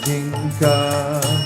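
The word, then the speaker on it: जिनका: By the way, the songbook that that song comes from said it's spelled Jinika. They said it's pronounced Jinka.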